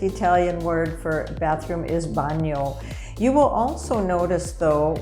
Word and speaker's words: bagno: bathroom and the word bathroom in italian is pronounced banyo now i know there are many dialect words